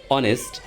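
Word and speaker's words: honest: অনেস্ট এইচ থাকা শর্তেও তা উচ্চারিত হয় নাই।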